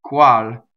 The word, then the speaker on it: qual: E qual, qual. Remember that the U, it's from the U position, not the W position.